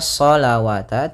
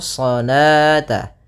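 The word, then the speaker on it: الصلاة: Kemudian di sini bukan dibaca salawata, tidak boleh dibaca salawata, karena di sini ini penulisan rasamnya. Ketika penulisan rasam shalah itu seperti ini. Nah, waw di sini dianggap tidak ada, waw tidak ada, dan alifnya yang saya dianggap yaitu salata.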